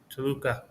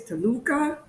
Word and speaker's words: Toluca: No, there's rules for where to put the stress on the word, depending on the syllable. But U's are a weak one, so I think it's Toluca, but Toluca. Toluca, whatever.